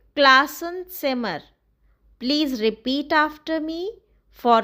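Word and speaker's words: Klassenzimmer: M classen simmer. Please repeat after me for correct pronunciation. M class and simmer.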